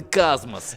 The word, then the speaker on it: Cosmos: into the cosmos yeah this galaxy theme galactic themed town might lend itself to a pronunciation similar to the space term but locals refer to the tiny town with a us sound at the end so cosmos hey well i i